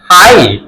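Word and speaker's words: high: আই জি এইচ আই ফা আ এই আই হাই হাই হাই জি টা এখানেও উচ্চারণ হয় নাই এস আই জি N sign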